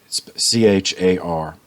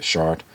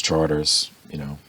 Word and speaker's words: Chartres: It's C-H-A-R-T-R-E-S. So, the French, they don't pronounce the suffix, so they have Chartres or Chartres, or if you're from New Orleans, Charters, Charter Street, It's, if